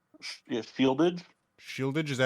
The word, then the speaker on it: Shieldaig: I have, and God, I forgot if I could pronounce it. Seed lag?